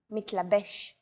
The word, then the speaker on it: מתלבש: Stress is usually on the last syllable of the word. Avoda, motzetz, mitlabesh.